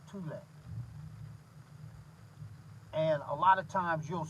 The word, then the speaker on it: Thule: If you look at it, it looked like it's phonetically pronounced Thule, but it's actually pronounced Thule.